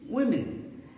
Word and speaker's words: women: Women. So it means the second letter O, it is pronounced as E.